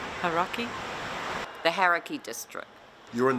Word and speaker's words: Hauraki: Hauraki. Hauraki. Hauraki.